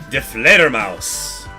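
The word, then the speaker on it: Die Fledermaus: De Fledermaus. De Fledermaus is how you say the bat in German.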